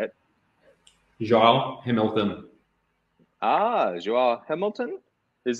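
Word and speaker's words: João: You have a pronunciation, so I'll let you say it. Joao Hamilton.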